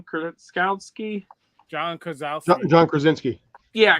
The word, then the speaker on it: Krasinski: Krasinski?